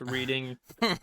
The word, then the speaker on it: Reading: How to pronounce reading railroad Yeah, right. You're like, look at for this. children? Look at this dumbass. Oh, it's pronounced Reading. Sounds like Rehdung.